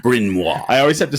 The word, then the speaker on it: Bryn Mawr: and he lived on Bryn Mawr. No way. Yeah. Brian Moore from Bryn Mawr. Yeah. And if you look at the spelling, like phonetically, it looks like Brian Moore.